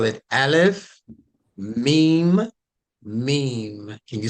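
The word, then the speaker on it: ميم: but it doesn't matter as long as you pronounce it with the long e meme all right so you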